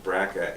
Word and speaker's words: BRCA: gene a gene test called a bracket test b brca which is pronounced braca and if you have